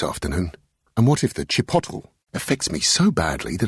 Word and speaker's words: chipotle: Sorry, I just can't decide between the ham salad sandwich and the chicken and chipotle wrap. It's pronounced Chipotle.